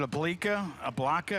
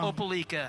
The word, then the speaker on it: Opelika: Was it Ablika? How do you say that? Peleika, Alabama? Opelika.